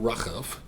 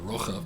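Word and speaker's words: רחב: We learned last week about Rachav or Rochav, depending on your pronunciation, and how absolutely determined she was.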